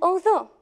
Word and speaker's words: although: However, in other words, we do not pronounce them at all. For example, in, though, through, and although. The GH is as if not there.